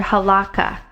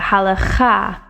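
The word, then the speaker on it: הלכה: Now notice I did not pronounce this word halakha. I've heard it pronounced many times that way in the English language, but the actual emphasis is on the last syllable in the Hebrew.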